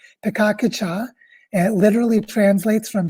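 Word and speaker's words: Pecha Kucha: A lot of people pronounce this pikakucha, but it's actually a Japanese word, pikakucha.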